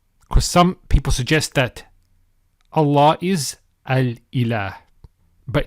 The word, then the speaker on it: الله: The lam with the shadda is pronounced with tafkhim, with heaviness. So as we said, Allah.